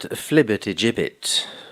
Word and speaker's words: flibbertigibbet: Do not rely on the words of that flibbertigibbet if your life depended on it. Am I pronouncing the word correctly?